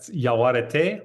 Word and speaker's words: Yaguareté: you you tell me with h the correct pronunciation um the name of your debut collection yeah Yaar white Yar white nice got it I you